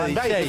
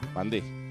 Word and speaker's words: Van Dijk: Y el nombre Van Dijk, ¿cómo se pronuncia, verdad?